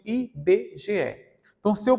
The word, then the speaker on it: IBGE: bge tem quatro letras mas eu não pronuncio ibg pronuncio i b g e então se eu pronuncio